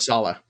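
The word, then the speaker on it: Saleh: want to pronounce it it's actually robert salah i look i've tried finding ways to pronounce it it was like there were different ones i didn't even know which way you know how i remember it because it's like holla holla hello robert we didn't know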